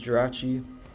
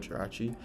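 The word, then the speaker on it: Jirachi: Next up is Gerachi or Giri. Let me know what you pronounce it like. I like to say Giri sometimes to rage bait people, but um most of the time I'm just going to say um Gerachi for this video.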